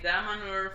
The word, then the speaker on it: Damanhur: I saw the Damanhur, how is it correctly pronounced? Damanhur.